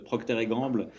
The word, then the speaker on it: Procter & Gamble: société américaine qui s'appelle jeu de prononcer à la française procter & gamble mais procter gamble pour la version nord-américaine donc j'ai commencé dans